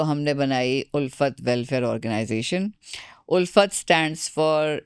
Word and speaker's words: Ulphat: उड़ता था तुमने क्या उल्फेट बना दी तो फिर मुझे ख्याल आया कि नहीं ये उल्फेट नहीं है या ये उल्फत है बच्चों की उल्फत है उर्दू में उल्फत है इंग्लिश में इसकी स्पेलिंग डिफरेंट है याट्स अ ट्स अमेजिंग